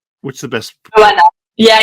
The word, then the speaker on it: Johanna: Joanna. Yeah, in French we actually don't pronounce the H, but Oh, you can say whatever you want.